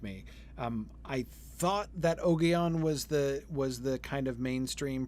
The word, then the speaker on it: Ogion: I will pronounce it Ogion.